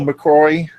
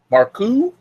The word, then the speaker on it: Marcou: Michael McCrory. I hope I'm McCrory. How do you say that their name? Michael McCroryx. MARCOU. McCoo. McCoo. Okay. It's French. It's McCoo. Marcou? Okay. MACOUX? Yes. It's Marcou.